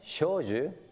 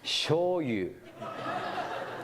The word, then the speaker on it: Shoju: So, what do you think a German who meets me for the first time would call my name Shoju? They call me Shoyu.